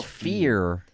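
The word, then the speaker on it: phear: that immersive cool username they spell it I TS p h e e r it's oh fear it's fear it's good pun must be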